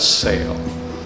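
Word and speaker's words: SAAL: and alan lager which the acronym is s-a-a-l and we pronounced that sail so when the firefighters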